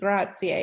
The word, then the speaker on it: grazie: writing here because uh thank you should be grazier it's spelled g-r-a-z-i-e um to say where is is